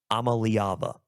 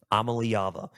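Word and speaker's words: Iamaleava: leava last year so this is how you pronounce it let me just clear it all Nico I'm a leava I'm a leava Nico I'm a leava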